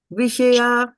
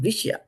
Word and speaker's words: विषया: The Shah here is a full Shah. It is not half. Like as in Vishnu, it's not half. So because it's full, so you will pronounce it full. Viṣayā and not Viṣya.